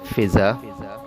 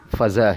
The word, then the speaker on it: فضا: سب۔ جیسے لفظ ہے جو عموماً ہمارے یہاں بولا جاتا ہے فضا، فضا، اس میں فے کے نیچے زیر کا استعمال کیا جاتا ہے، جبکہ اس کا جو صحیح تلفظ ہے وہ فضا ہے۔ جی ہاں، فے کے اوپر زبر استعمال ہوتا ہے اور اس کو فضا پڑھا جاتا ہے، فضائیہ ہے، فضائیہ نہیں